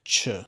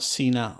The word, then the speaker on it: cena: a soft sound like CH like in chair we make a soft sound before the letter e and i let's review some examples CH which means dinner not Cena like the wrestler chento which means one